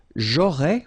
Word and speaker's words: aurais: J'aurais, remember, final S not pronounced.